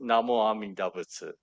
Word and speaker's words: Namo Amida Butsu: Well, so um, the proper is Namo Amida Butsu. That's the proper way. Okay. But over time, it has been simplified. So people say Namandabu, Namandabu, Namandabu, and that's also an accepted uh, iteration of that pronunciation. It's not it's not the proper, the right full um, iteration or chanting pronunciation, but it is commonly accepted.